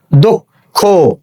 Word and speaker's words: দক্ষ: তাহলে আমরা জানি যে শব্দের শেষে যদি যুক্ত বর্ণ থাকে এবং তার সঙ্গে যদি কোনো কার চিহ্ন না থাকে, তাহলে সে উচ্চারণ কি হয়ে যাবে, উচ্চারণটা ও হয়ে যাবে। তো উচ্চারণ হচ্ছে দক্ষ। এরপরে খেয়াল করো শব্দের শুরুতে